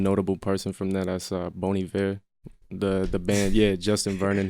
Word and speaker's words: Bon Iver: That's Bon Iver, the band.